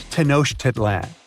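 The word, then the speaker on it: Tenochtitlan: It's Tanoshitlan. And Mayan cities are hard to pronounce too.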